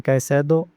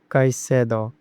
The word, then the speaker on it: Caicedo: And in Caicedo, the stress is on the middle syllable, so it is Caicedo.